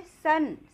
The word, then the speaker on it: son: सन। सन means बेटा। देखिए यहाँ पे इसको हमने आ प्रोनाउंस किया, ये लिखा तो ओ है, ए